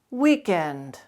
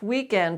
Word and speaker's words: weekend: be pronounced completely so make sure you properly pronounce that second syllable in words like these shotgun shorthand roughneck fish pond weekend and contrast weekend with weakened weaken weakened